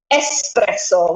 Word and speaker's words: espresso: Where here, yeah, it's definitely espresso. Espresso with an S. So if you go to Italy, Adriana's teaching you some Italian stuff. Espresso. Absolutely. Espresso with an S, not an S.